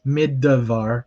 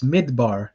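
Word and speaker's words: מִדְבָּר: Here's where you'll notice that the shva here is totally silent. It is not vocal because it is at the end of the syllable. So a beginner might mispronounce this as middavar, but that is incorrect. It is midbar, not middabar.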